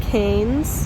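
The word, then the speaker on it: Cannes: It's spelled like Canes, but it's Cane, I guess.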